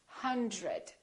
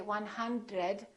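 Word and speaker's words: hundred: 100. Don't say 100, say 100.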